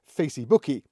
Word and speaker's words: Facebook: or reinvent the Facebook interestingly pronounced Facey bookie in Brazilian we're just trying to